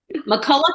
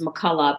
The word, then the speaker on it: McCulloch: McCulloch is the traditional Scottish pronunciation. It's Scottish, not Irish. A lot of people think it's an Irish name. It's actually Scottish, but the American, typical pronunciation is McCulloch, but it's either way is fine.